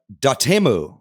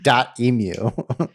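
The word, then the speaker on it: Dotemu: uh produced by uh da temu as apparently we've all been mispronouncing this whole time yeah we've been saying dot emu yeah but we've been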